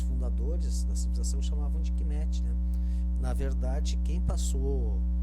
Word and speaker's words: Kemet: Na verdade, aqui está escrito Kemet. Kemet. São 3 sílabas.